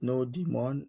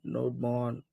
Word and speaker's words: nodemon: So on npmgs there is a package called nodemon nodemon some people call it node demon nodemon however you want to pronounce it node and then mon.